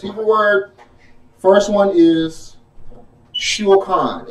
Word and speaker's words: shulchan: Hebrew word, first one is shulchan. It's spelled S-H-U-L-C-H-A-N.